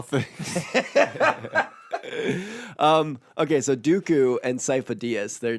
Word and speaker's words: Sifo-Dyas: sifo-dyas in Episode two his name is pronounced sifo-dyas which means Epps himself